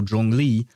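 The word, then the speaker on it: Zhongli: instance for Jong Lee, his name is like it starts with Zh and yet is pronounced with a J sound kind of like as if you had a D and a J uh close together or something like that.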